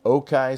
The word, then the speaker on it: Okai: Let's pick it up with Jack Gillin where we left off last week with Okai scooters. That's O-K-A-I. It's kind of a Chinese pronunciation of okay.